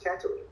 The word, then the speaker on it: Tatooine: I've had I've done Star Wars properties where I didn't understand the how to pronounce planets and characters, but that's not a challenge. You got a director saying it's Tatooine, so thank you.